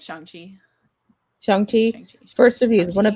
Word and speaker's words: Shang-Chi: The Shang-Chi and the Rings.